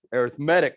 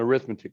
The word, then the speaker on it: arithmetic: we call this an arithmetic sequence you spell it the same way you smell arithmetic but you say it as an adjective with an accent on the e arithmetic sequence not an arithmetic sequence right so arithmetic sequences